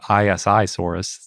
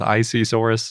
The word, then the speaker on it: Isisaurus: Planet they go with isisaurus so that's what we're doing yep I kind of like that they say I at the beginning of it since it's isi yeah